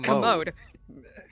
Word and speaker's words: commode: It's commode. Commode. Is it French? Probably. You're putting the emphasis on the wrong syllable.